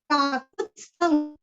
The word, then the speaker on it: काकुत्स्थं: काकुत्स्थं, काकु पूरस्व और आधा त, आधा स, थ पूरा बोल के अनुस्वार का उच्चारण वांग्मय का ग। काकुत्स्थं, काकुत्स्थं।